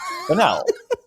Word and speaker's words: Bonnell: And like Bonnell is like a super easy last name to say. Like Bonnell. Like banal. And probably the most like well-known, renowned person there, Norm Finkelstein, kept calling him Borelli.